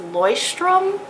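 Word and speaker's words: Leuchtturm1917: gets four bullet journals I think it's pronounced Loy strum that's what I've heard Loy strong nineteen seventeen and this is just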